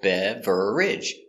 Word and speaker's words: beverage: first we have beverage it looks like three syllables beverage but we don't pronounce three we only pronounce two beverage beverage one beverage